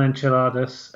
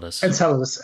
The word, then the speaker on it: Enceladus: the geezers gazes I'm never sure how to pronounce that word uh on on enchiladas uh or in Enceladus oh sorry okay okay and uh Sam uh